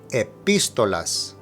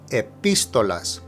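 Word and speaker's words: epístolas: which simply means and now note that epistolas has an accent over the I so that is where you stress the pronunciation epistolas epistolas the means 13 and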